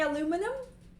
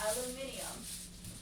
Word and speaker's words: aluminium: Say it like the British do. Aluminium. What'd you say? Aluminium? That's how you say it? That's how British people say it.